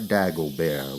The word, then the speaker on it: Dagobert: It was Hippolyte Dagobert with a silent T at the end, as he was quick to point out.